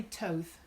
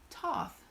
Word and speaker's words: Thoth: research on that now I used I guess a Toth like it rhymes with with oath I have seen it called Toth like moth I have done some